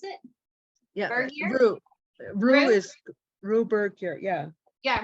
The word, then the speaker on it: Rugh: so Rugh, R-U-G-H, if you want to read is that how you pronounce it? Yeah, Bergier? Rue is Rue Bergier, yeah.